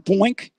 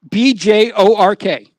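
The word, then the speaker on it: Björk: Remember Boink? What? What's her name again? No. I said Boink. What is it? I don't even know how to say it. Boink? It ain't Boink. Who? What's her name? BJORK.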